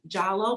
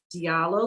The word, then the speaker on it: Diallo: And so all together, I love our team, and quoting our esteemed leader, Dazon Dixon Jallo, but we like to pronounce it Diallo, so we can call her DDD.